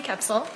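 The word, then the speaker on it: Koepsell: for the record I'm sorry full name and spell it for us it's capsil last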